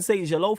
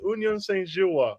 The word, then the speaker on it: Union Saint-Gilloise: We have people talking about fucking Union Saint-Gelo from the Belgian league. Hey, Saint Hey, What? Hey, Don't listen. ever mispronounce our name again. It's Union Saint-Gilloise, all right?